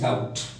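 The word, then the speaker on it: doubt: ऐसे मान लो एक वर्ड और है, और वो वर्ड क्या है, DOUB और T। हम इस वर्ड को क्या बोलते हैं, या इसका क्या प्रोनाउंसिएशन करते हैं, इस वर्ड को हम बोलते हैं डाउट। ओके, यदि ये B साइलेंट नहीं होता तो इस वर्ड को हम क्या बोलते हैं, डाउबट बोलते हैं, मीन्स रॉन्ग।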